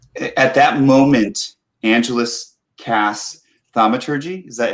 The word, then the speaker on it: thaumaturgy: bring them back at that moment angelus cass thamaturgy is that how you say it yeah thaumaturgy to instantaneously cause an unlocked door window behind